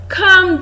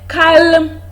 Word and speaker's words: calm: of words here we have come come just calm down you don't say caelum down no in that's word the love sound is silent the spell of fact that there is